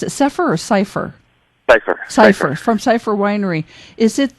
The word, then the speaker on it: Cypher: Do you pronounce it Cypher or Cypher? Cypher.